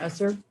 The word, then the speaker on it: ESSER: Esther? The one, yeah, Esser. Is it- first. How do you pronounce it?